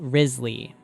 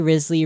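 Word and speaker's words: Wriothesley: according to the internet this is how you're supposed to to pronounce his name let's talk about Risley in the final Feast trailer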